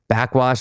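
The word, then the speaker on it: Backxwash: Backwash, Only Dust Remains, so good. It's her first following a trilogy. It's spelled Back X Wash.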